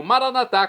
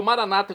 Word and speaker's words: Maranatá: E agora eu clamo, Maranatá, como dizemos nós católicos, ou maranata, como dizem nossos irmãos separados, os evangélicos ou protestantes. Não importa a pronúncia, o significado é o mesmo.